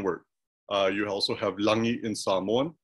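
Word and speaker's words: lagi: uh you also have langi in samoan even though it's spelled l-a-g-i that g is pronounced um uh you have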